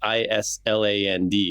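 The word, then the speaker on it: Ísland: it's called Iceland because in the Old Norse, it's Island. It's just spelled like we say the word island, but they pronounced it hard S.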